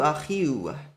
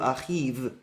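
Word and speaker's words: אחיו: And it shows the w sound is the correct pronunciation. Achihu achiu, not achihu achiv. That doesn't make sense.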